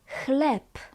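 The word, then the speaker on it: chleb: Bread is klep c h is klep. And here we pronounce the last letter b as p.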